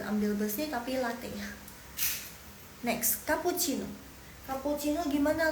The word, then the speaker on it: cappuccino: besi tapi latih next kapucino cappuccino gimana l cara bacanya pu eh coba dengar baik-baik soalnya kucin agak panjang ya Ka pu Ci no cappuccino ka pu Ci no